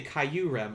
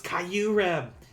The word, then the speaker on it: Kyurem: lesson by the way i cry caillou rim caillou rem oh my god pikachu it's kyurem that hurt me in so